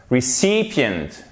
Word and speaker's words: recipient: On sait donc que la syllabe derrière, c'est celle qui est accentuée, puisque dans les mots qui ont deux syllabes ou plus en anglais, toute syllabe est accentuée, ce qui nous donne recipient, ok? Et non pas recipient ou recipient, non. Recipient, c'est un mini-i, ici un i court, recipient.